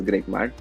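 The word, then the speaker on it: GregMat: It's spelled as GRE GMAT, but it's called as Greek Mat.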